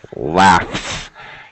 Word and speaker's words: laughs: Laughs. Yes, it's an S sound.